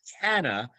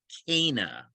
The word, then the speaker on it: Cana: is it hmm or canna it's canna most people um say it as a cana cana yeah that's always the